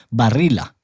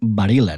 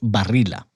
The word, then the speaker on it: Barilla: Ahora, porque imagine usted conoce la marca de pasta Barilla, porque así es la pronunciación en italiano, ¿no?